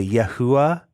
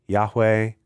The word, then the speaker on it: Yahweh: can't be a who so the yahua being a potential pronunciation for Yahweh is no good that one that one's no good according to these grammar rules um however it can